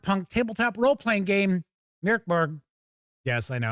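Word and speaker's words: Mörk Borg: tabletop role playing game Merborg. Yes, I know. I'll say it the usual normal way. People get mad when I do my jokingly pronounced Morborg, which isn't that.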